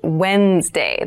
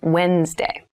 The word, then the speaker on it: Wednesday: but keep in mind this is pronounced wednesday there's a d there but we don't say wednesday we say wednesday wednesday the 18th wednesday